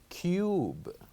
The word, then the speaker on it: cube: But because with the other word, because we added E at the end, then we'll pronounce the letter U a bit longer. This word will be cube, cube.